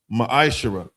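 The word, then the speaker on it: מעשר: The book of Malachi, chapter 3, verses 8 through 10, means 10th in the Hebrew. Is pronounced ma'ashara.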